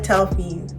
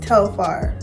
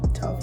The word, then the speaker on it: Telfar: I always call it Telfie, but it's pronounced Telfar, right? Telfar.